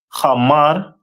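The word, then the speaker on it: חמור: And their symbol is a donkey, which is pronounced in the Hebrew as Hamar.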